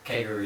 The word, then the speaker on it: Kakeru: I can't pronounce it. Kakeru? Kakeru, yeah.